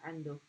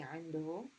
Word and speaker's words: عنده: And in dialect, oftentimes we pronounce it عنده. But there's actually the ha at the end does have a dhamma.